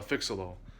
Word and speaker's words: Phixeleaux: be that pale hatchet was paired with a fix-a-loll and how you spell that is p-h-i-x a-l-e-a-u-x so fix-a-little-wise would chronologically